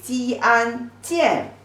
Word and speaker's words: 见: The pronunciation is 鸡安见.